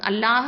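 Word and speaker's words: الله: அடுத்ததா பாருங்க மினல்லாஹி அப்படின்னு சொல்லும் போது அல்லாஹுங்கிற வேர்டுக்கு முன்னாடி லஃப்துல் ஜலாலா அல்லாஹுங்கிற வேர்டுக்கு முன்னாடி நம்ம வந்து ஃபத்தாவோ அந்த அல்லாஹ் அப்படிங்கிற வேர்டுக்கு முன்னாடி உள்ள எழுத்துல ஃபத்தாவோ இல்லை தொம்மாவோ வந்துருந்துச்சு அப்படின்னு சொன்னா நம்ம வந்து அந்த லாமை வந்து வல்லினமா ஹெவியா உச்சரிக்கணும்.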